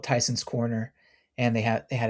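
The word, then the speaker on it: Tysons Corner: I thought you said Titans Corner, which would have been No, it's like Tyson's Corner. Tyson's Corner. That was just my my terrible pronunciation and maybe accent coming through.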